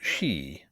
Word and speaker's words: ski: And the pronunciation of the word "ski" aroused long discussions and was never definitely settled by anybody. The Captain said "skee," but he did not object to "shee," which was said to be the more strictly